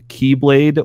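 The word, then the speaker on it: χ-blade: weapon that can open Kingdom Hearts called the keyblade or the Chi blade it's X filled with an expertise Greek X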